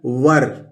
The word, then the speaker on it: were: इसी तरह दोस्तों लिखा हुआ है WERE, तो इसको वेयर नहीं पढ़ते हैं, इसको पढ़ते हैं वर, तो व को अ प्रोनाउंस करेंगे दोस्तों, तो ये हो गया व और ये र, तो क्या हो गया वर।